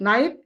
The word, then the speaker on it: night: Here we have GH, which is don't pronounce, which is not pronounced in the word. Like what? Like night, high, delighted.